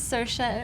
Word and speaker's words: Saoirse: So she says, my name is Saoirse. It rhymes with inertia.